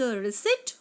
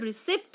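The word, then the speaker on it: receipt: लेकिन गांधी जी ने क्या किया, उन्होंने जो रिसिट उनके पास आई थी, the exact pronunciation of this word is रिसिट, नॉट रिसिप्ट guys. सो गांधी जी ने उस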